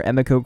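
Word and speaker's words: Emiko: finally properly introduced to a miko queen or Emeco queen however you want to pronounce it I think it was pronounced both ways within the episode so I guess it's all up to personal preference anyway we learned about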